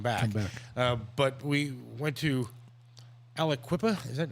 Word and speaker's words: Aliquippa: But we went to Aliquippa, is that how you Yes.